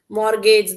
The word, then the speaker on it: mortgage: Mortgage the T is silent.